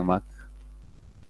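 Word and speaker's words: Mach: en conexión natural otros el número de Mac se pronuncia mata y se escribe de esta forma su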